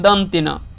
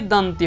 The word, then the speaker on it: दंत्य: हम लोग क्या कि थोड़ा उतना शुद्ध उच्चारण नहीं बोलते, हम इसको मूर्धन्ना ना बोलते, मूर्धन्ना और इसको दंतना, जबकि ये मूर्धन्य होता है, ये दंत्य होता है।